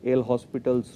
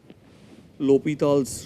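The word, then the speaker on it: L'Hôpital: called the lal's rule though in India we'll call it l hospitals rule but if you go by the French pronunciation it is called lal's Rule he was a he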